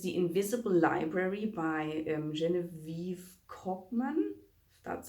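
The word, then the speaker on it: Genevieve Cogman: but um is the invisible library by um genevieve kochmann that's how you pronounce her name um i have i've read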